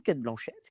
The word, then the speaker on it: Cate Blanchett: Oui, c'est pas la blanquette. Eh bien, on retrouve Cate Blanchett, qui a fait une série là, alors je peux le dire, qui est à Apple TV.